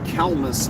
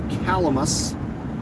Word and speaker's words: Calamus: the fine town of calmas Iowa or calamus depending on how you choose to pronounce it and as we